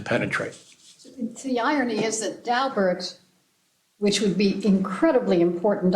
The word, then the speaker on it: Daubert: By the way, just so everyone knows, Dalbert is pronounced Dalbert. I used to say Dalbert. Snobs say Dalbert. But Mr. Dalbert is on record as saying that he pronounces his name Dalbert.